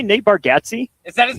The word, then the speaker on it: Nate Bargatze: Did you say Nate Bargatze? Is that his name? I think it's Nate Bargatze.